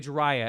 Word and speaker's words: Jhariah: feelers out there Skrillex Jah is it by the way jiah am I pronouncing it correctly got it what's what